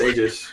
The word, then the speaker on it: Aegis: Is it Aegis? A I think it's Aegis. Yeah. Yeah, it's Aegis. Robot lady. All right. I've been saying Eegis this whole time.